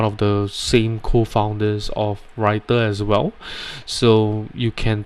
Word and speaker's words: Rytr: you have tried before writer right which is spelt rytr i have spoke to